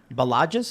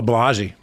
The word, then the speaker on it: Balaji: So we have this from on Twitter from Balages. Is that how you pronounce his name? Oh, Balaji.